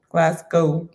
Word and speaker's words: Glasgow: Spoken like it's the way that it's spelled, but how do you say it? Glasgow.